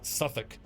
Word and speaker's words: Southwark: Like not knowing that Suffolk, even though Suffolk is spelled Southwark, so S-O-U-T-H, South, and then W-A-R-K, one word, Southwark.